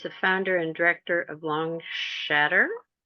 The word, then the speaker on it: Longshadr: founder and director of long shatter how do you pronounce that you did it just right long shatter okay sounds like s h a t t r i don't know chattering